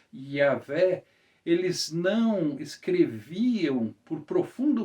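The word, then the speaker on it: Yahweh: nós fizemos hoje que o sentido mais preciso mais exato a pronúncia seria yaveh eles não escreviam por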